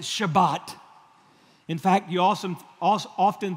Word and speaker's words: Shabbat: We've learned that word in the Hebrew, you pronounce it Shabbat.